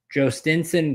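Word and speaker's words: Jhostynxon: I had the pronunciation Uh Jo uh let's see I'm g luckily baseball reference gives you the phonetic. It is uh Joinen Garcia.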